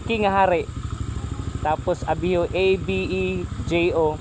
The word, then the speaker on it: Abejo: Tapos Abio, A-B-E-J-O. Murag Abidjo siya ba, pero pag pronounce Abejo.